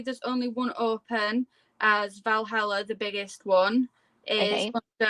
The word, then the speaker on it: Valhalla: James is basically saying, Coast Chicken is basically saying, oh, loads of people are actually saying Valhalla. Is that how you say it? Yes. Valhalla.